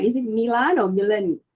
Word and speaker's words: Milan: Is it Milan or Milan? How do you pronounce it?